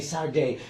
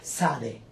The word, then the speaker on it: Sade: How do you say Sade? Because in Argentina for us it's Sade. Yeah, Sade. And how do you It's a say? bit more, well, in Nigeria it's more like that. It's Sade in Nigeria.